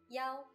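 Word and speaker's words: 幺: well for example the past number 101 is pronounced yo Bing yo yawning even use yo instead of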